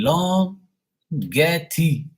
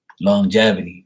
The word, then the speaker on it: longevity: said look all I'm saying is I see long Getty get this long thing right here that's all